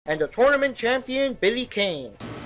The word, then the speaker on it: Billy Kane: No, it's pronounced Billy Kane. Billy Khan. No, the way it's spelled, it's Billy Kane. No, it's Billy Khan. Look, there's nothing anywhere that says it's pronounced Billy Khan, okay? Oh, excuse me? Bogard versus Billy Khan. Okay, fine, so it's Billy Khan, fine.